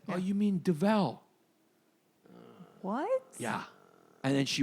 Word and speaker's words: Duvel: Oh, you mean Duvel? What? Yeah. And then she went and she got us 2 fucking Duvels. Yeah. She went, you mean Duvel? Instead of Duval.